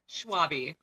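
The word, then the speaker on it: Schwalbe: pronounce your last name schwabe okay it was right well he was wrong it's a weird one the l is silent it's german a lot of people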